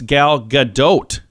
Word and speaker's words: Gal Gadot: lowen I've always said Gal Gadot she says no it's Gal Gadot you pronounce the T at the end she's not French she's